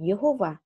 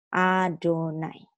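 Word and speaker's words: יהוה: Tetapi dia tidak boleh diucapkan Yehovah, tapi diucapkan sesuai tanda-tanda yang ada di atas ini. Adonai.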